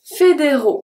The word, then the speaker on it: fédéraux: Fédéraux. Fédéraux. Fédéraux. The only letter that is not pronounced in this case is the X.